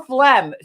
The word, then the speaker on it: phlegm: about spell phlegm? Phlegm has a silent G in it. So is it phlegm? If I want to spell it the way it sounds, then it would be F-L-E-M.